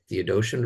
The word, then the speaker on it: Theodotion: We have Aquila and Symmachus and Theodotion, right? Yep. That's how you pronounce it.